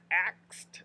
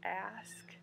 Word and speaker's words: ask: those things that was a little trickier to say ask as opposed to ax the k versus the x sound i don't know where